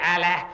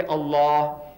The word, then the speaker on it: Allah: you how to pronounce you can spell it as a l a as allah but don't say allah say allah try say allah don't say allah is not allah is